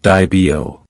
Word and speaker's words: Dibo: And those who study the pedigrees of their dogs take increasing delight at each appearance of the name DeBoer, pronounced Dibio.